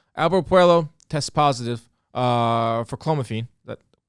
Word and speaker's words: clomiphene: Albert Puello tests positive for clomiphene. That correct way to say it? Yeah, clomiphene, yeah.